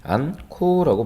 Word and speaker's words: 않고: 않고는 않코라고 발음하는 게 맞고요. 쌓지는 쌓치라고 발음하는 게 맞습니다.